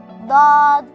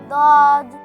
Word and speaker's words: ض: My sound looks similar to dal, but it's not. DAWD sound is heavier and thick. DAWD, DAWD, DAWD, DAWD. For your understanding, you can spell DAWD in English as D-A-W-D, DAWD. It sounds like the English word paw.